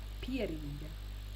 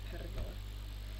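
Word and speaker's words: Pierīga: Hey, I know You mispronounced all of them. I know there's gonna be a lot of mispronouncing, but it's Kurzeme, Zemgale, Latgale, Vidzeme, and Periga. Pieriga. Not Perigale.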